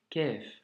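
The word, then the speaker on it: كاف: lettre Qaf, qui est une lettre emphatique, qui doit remplir la bouche quand tu la prononces et qu'il ne faut surtout pas confondre avec le Kef. Ici, nous avons un Qaf et ici Kef.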